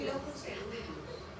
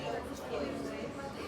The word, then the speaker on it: locus coeruleus: O sea, se dice locus cerúleo. Y se escribe locus coeruleus.